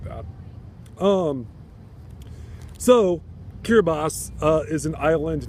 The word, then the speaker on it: Kiribati: I believe I've actually pronounced that wrong to start the review. It's Kiribati, and the Kiribati are the people of the island. Kiribati is a island nation about halfway between Samoa